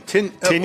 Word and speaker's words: Tynan: Tynan. Tynan, huh? I think that's, how do you pronounce that? Tinian or Tynan? Tinian.